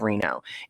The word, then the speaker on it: Reno: have a show this Friday at Aikido of Reno.